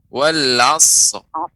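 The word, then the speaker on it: والعصر: Wal asr. Ya. Dia pengucapan sad. Wal asr. Asr. Tambahkan ra di ujungnya.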